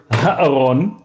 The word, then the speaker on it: Ha-Aron: But one is starts off with the aleph, right? So it's Aharon, and the of the ark is Ha-Aron.